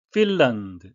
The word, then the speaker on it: Finland: Finland, L-A-N-D는 land라고 발음 안 하고 런드가 되겠습니다. 그래서 국가 이름에 들어간 L-A-N-D 다 런드라고 England가 아니고 England가 되겠습니다.